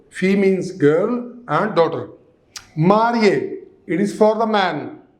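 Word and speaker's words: mariée: Marié. It is for the man. Married man. Marié. Here also marié. Married woman. Okay? With double E. But the pronunciation remains the same.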